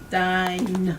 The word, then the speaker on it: dine: Dine, right? Dine. Did I pronounce the E? No, it's silent because of this.